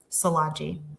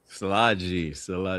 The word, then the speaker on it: Szilagyi: But for, I guess, the most pressing question is how you say my last name, which is Szilagyi. So Szilagyi.